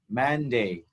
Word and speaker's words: Monday: ဆရာကပထမဆုံးရက်ကို Monday တနင်္လာနေ့ယူထားပါတယ်။ဘုရားဆရာသင်ခြင်းတဲ့အကြောင်းအရာလေးကိုထိထိမိမိဖြစ်စေခြင်းတဲ့အတွက်ဆရာ Monday ယူပါတယ်။ The first day of the week is Monday. Monday. ဆရာတို့ဒီမှာအတန်ထွက်ကနှစ်ခုရှိပါနော်။အတန်ထွက်နှစ်ခုဆိုတော့ဆရာတို့ကဒီမှာအတန်နှစ်တန်ပေါ့နော် two syllables ရှိပါတယ် man ရယ် day ရယ်ဆရာတို့ o နဲ့ဒီမှာအလယ်မှာရေးပေမဲ့ဟုတ်ပြီနော်ဆရာတို့ပထမ